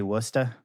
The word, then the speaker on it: Worcester: Like that pronunciation. Yeah, it was good. I mean, actually, I was pretty good, actually. Nailed Oh, you have it spelt well in the notes. Yeah. WOOOSTR. Still pretty good pronunciation there, yeah.